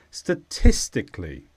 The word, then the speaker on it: statistically: results would be recorded statistically it's an adverb and the stress is on Tiss statistically and this means in a